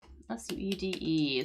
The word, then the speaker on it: suede: very soft but anyways the pronunciation because I know that that's a kind of a weird looking word just suede S U E D E suede.